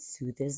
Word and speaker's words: soothes: You know that es in some words is pronounced with a z.